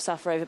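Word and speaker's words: Šafářová: know so uh safarova she calls herself safarova but now all the umpires are calling her shivashiva have you noticed that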